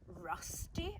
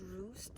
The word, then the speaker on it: Rusty: is Ella Gordon's and I think it's pronounced Rusty actually I thought it was Roost because that's current out here in the sea but it's Rusty because it reminded her of the rusty metals that she got out of the sea